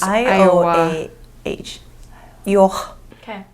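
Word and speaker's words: Ioah: Yeah, it's spelled I-O-A-H, so I'm guessing it's pronounced Iowa.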